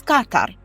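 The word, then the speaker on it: katar: і нежить попольску то Катар Катар Катар зверніть увагу де падає наголос Катар наприклад отх днів меншемне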